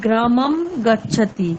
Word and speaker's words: গ্রামং গচ্ছতি: সংস্কৃতে অনুস্বারের উচ্চারণ সাধারণত মকারের ন্যায় হয়ে থাকে, যেমন গ্রামাং গচ্ছতি, এটি উচ্চারিত হয় গ্রামাম গচ্ছতি, এরকম।